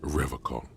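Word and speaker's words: Revachol: He pronounces Revacol with a hard K, unlike other people.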